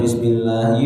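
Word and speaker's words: بسم الله: Sebagai contoh, membaca "Bismillahi" dengan 'lam' yang panjang, "Ar-Rahman" dengan ' mim' yang panjang, dan "Ar-Rahim" dengan 'ha' yang panjang.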